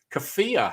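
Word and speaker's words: Kawhia: how to pronounce that it's k a w h i a it could be kefir harbor i think they wh is an f i think that's right um is new species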